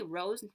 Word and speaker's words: rose: Hey, rose rhymes with nose. They both sound like they have a Z, but it's actually an S.